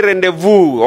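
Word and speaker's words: rendezvous: Next we say rendevu. Okay. That means the zed and the s are silent.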